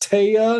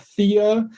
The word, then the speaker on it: Thea: not Cameo and um the name Thea is Scandinavian it's properly pronounced TAA not Thea and it is as